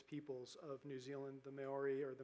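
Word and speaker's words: Māori: And there were lots of connections between one of the indigenous peoples of New Zealand, the Maori, or the Maori, as it's sometimes pronounced, and Nantucket, to the point where Ralph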